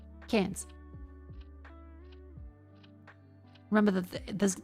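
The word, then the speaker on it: Cairns: Who wants to know how to pronounce cans? Cans. Remember that there's in Australia unlike America there's no hard R.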